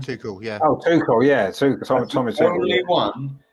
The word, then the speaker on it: Tuchel: What's that, how you pronounce his name? Tuchel, yeah. Oh, Tuchel, yeah.